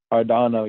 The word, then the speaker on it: Cardano: I think is that how you pronounce it? Cardano, yeah.